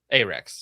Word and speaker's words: Arex: So the P10C optics ready reportedly beat out competition from Glock and Slovenia's Do you pronounce it AREX or ARX? Yes. AREX. AREX. Right? Like ARAB and AREX.